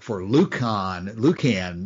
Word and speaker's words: Lucan: Martin, have you read much of no, I've been saying Lucian and Don said Lucian. Either six of one, half dozen of another. That's. I reserved the hard C for Lucan.